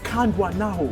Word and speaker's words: Kandwanaho: that name but I failed what's what's the pronunciation of your name kandan kandan yes what does it mean God fought for